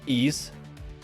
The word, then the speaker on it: Ys: you pronounce it that that y-s is uh pronounced ease ease eight lacrimosa of Donna